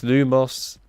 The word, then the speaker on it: Lumos: buy that at all it's lumos and it's Aqua erupt so and it's repario that's the way it should be I will not have